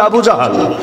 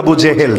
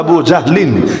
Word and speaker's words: আবু জাহল: এমনকি আবু জাহাল, যাকে বলা হয় উম্মতের ফেরাউন, আপনারা অনেকে নামটা বলেন আবু জেহেল, জেহেল মূল উচ্চারণ হলো আবু জাহলিন, এটা বলা তো জটিল, সংক্ষেপে আবু জাহাল, আবু জাহাল এটা বলতে পারেন।